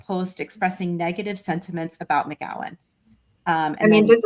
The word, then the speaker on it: McGowan: McG McGowan? Rose McGowan, yeah.